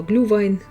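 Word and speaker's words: Glühwein: Глинтвейн – это русское произношение слова глювайн, от немецкого глюендавайн – это горячее вино.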